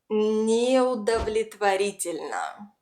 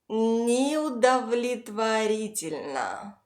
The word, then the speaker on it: неудовлетворительно: The first O is unstressed and it sits far from the stressed syllable, so it's reduced and must be pronounced